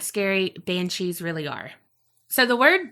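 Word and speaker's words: bean sí: scary or not scary banshees really are. So the word banshee is derived from Old Irish Banshee, but it's like spelled like bean and then C as in senor, like si senor.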